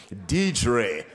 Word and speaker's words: Dedre: DED DED DED I have sinned forgive me dedre we're happy to have you D God bless